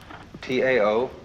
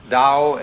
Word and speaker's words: Tao: T AO pronounced Dao in the Mandarin dialect, Tao in the Shanghai dialect, toe in the Cantonese dialect.